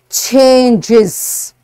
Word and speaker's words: changes: And if before S there is hissing sound, S will be pronounced as Z. For example, changes, changes. Why? Because this sound is a hissing sound, changes. Buses, brushes. Do you understand? Because this sound is a hissing sound, that's why you have to pronounce it as is.